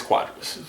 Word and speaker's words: Cuadras: back but what Carlos quadras is that how you pronounce it it's quadras quadras um it's a little